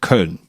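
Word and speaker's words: Köln: So the city I live in is called Cologne in English, but in in German it's called Karn with the O uh and the two dots.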